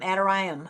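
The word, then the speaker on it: Adoniram: It's a d o n i r a m. Adoram I guess is how you pronounce it.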